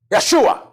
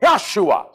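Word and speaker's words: ישוע: Jesus the Hebrews say Yeshua the reason why they say Yeshua because one there is no J's in the Hebrew grammar Joshua is pronounced in Hebrew Yeshua Yeshua is the name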